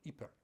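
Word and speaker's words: Ieper: world war, the first battle of Epip um or Eper if you prefer the Flemish pronunciation.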